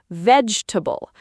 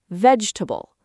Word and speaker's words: vegetable: Vegetable. The middle E disappears completely. Vegetable.